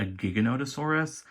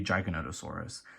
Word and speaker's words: Giganotosaurus: disappointing first of all in the movie everyone calls it a giganotosaurus i have heard that pronunciation but i believe it's incorrect because i checked my pronunciation before i was like making videos back in april and i'm pretty sure it's supposed to be giganotosaurus it could be like